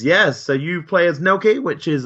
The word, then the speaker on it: Nelke: So I'm really, you guys just announced the new Atelier game, Nelke, which is like, how you pronounce it, Nelke? Nelke, yeah, Nelke Okay.